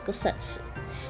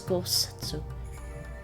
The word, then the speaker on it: Gosetsu: Actually, I think it's Gosetsu, the way Heen pronounces it.